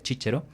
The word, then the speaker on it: Cicero: pronunciación latina que utiliza en la pronunciación eclesiástica se diría chichero y los alemanes pronuncien